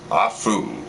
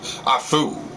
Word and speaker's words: Afu: samoan isles he is a foo yes it sounds like i sneeze but no that is how you pronounce his name afu known also as the